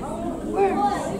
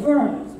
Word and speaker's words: Worms: Worms. Worms, right. In German, the W is pronounced like a V.